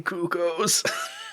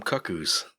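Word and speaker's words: Cucco: and official translation yeah or pronunciation apparently it's always supposed to have been cucko's it's always supposed to have been Cucos I don't know that's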